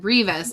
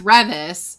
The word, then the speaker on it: Revis: Because I was saying Beth's name wrong, too, because I said Revis, but it's Revis.